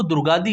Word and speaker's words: दुर्गादी: नाम जो है वह दुर्गादी है तो अगर आप लोग दुर्गाडी यूज करते हैं तो यह जो है वो आप गलत यूज करते हैं यह आप इंग्लिश